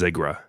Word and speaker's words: Zigra: Collection, the Game versus Ziggra disc, Zegra, we watched the US trailer and without a shadow of a doubt, it was pronounced as Ziggra.